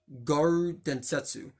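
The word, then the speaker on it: 餓狼伝説: few special in English in Japanese it's actually pronounced guard Densetsu that I do know how to speak Japanese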